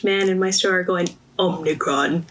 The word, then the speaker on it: Omicron: pronounce it, but like I just kept hearing people calling it the Omarion virus, and I was like, what is this called? So I was one of those people. I didn't read it completely, to be honest. I think I still say it wrong sometimes, but Brianna told me Omicron. Yeah, Omicron. That's what it's called.